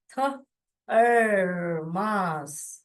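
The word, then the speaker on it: thumb: okay yes next come इसमें बी जो है व साइलेंट है व क्यों साइलेंट है बाद में व विल लन समम थम थम माने क्या जो अंगूठा होता है उसको थम बोलते हैं ओके थम थम ब नहीं बोलने का दिस वन साइलेंट साइलेंट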